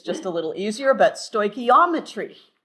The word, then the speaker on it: stoichiometry: the beginning, is called, the topic is called stoichiometry. Stoichiometry. Often we just refer to it as stoic, okay, because it's just a little easier, but stoichiometry, accent on the ometry.